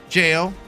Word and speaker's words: Gail: Gail Jail jail yes it's spelled with a g a it's spelled it's spelled like that but it said jail oh why Gil is said like jail but it's Gail it's jail it's but it says Gail but it's jail it's it's Gail like a really nice middle-aged secretary in a library no it's jail like